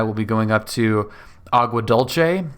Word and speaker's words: Agua Dulce: be going up to Agua Dulce, which I will be pronouncing in the Italian manner, just because dulce or whatever Spanish pronunciation sounds kind of weird to me. Dulce sounds a little bit better.